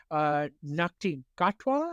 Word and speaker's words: Ncuti Gatwa: Ncuti Gatwa, I believe is how it is pronounced.